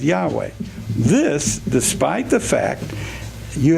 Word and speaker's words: Yahweh: In a footnote to Jay Glenn's article, May, June 1994, on page 53, you say, no one knows how Yahweh was YHWH was pronounced, but it is usually vocalized as Yahweh.